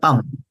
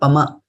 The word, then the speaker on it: cāpaṁ: So, for example, after this M, there is no A in this line, right? So then pam. It is not pama because there is no A there, right? So pam.